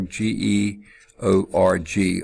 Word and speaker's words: Georg: first time was Georg GE o-r-g almost like George but this is pronounced as a long a sound Georg ohm okay I